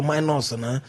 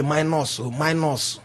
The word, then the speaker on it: minors: Minors, we know the people they call minors, no be minors. Yeah, minors. They call them minors. Because they sound like a plus and minus.